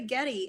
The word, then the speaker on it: Yeti: I've heard some say Getty. And so after the game, I asked him, I said, because I was like, great game, Yeti. And then I was like, am I pronouncing that correctly, Yeti? And he nodded and said yes, but I have heard people say it both ways.